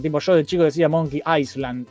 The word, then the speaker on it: Monkey Island: Tiene una S, pero se pronuncia Island, la palabra Island. No sé por qué le ponen una puta S si no se pronuncia.